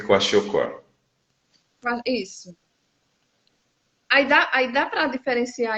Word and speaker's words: kwashiorkor: muito bem o nome e a pronúncia, coache e marasmo. Marasmo e kwashiorkor.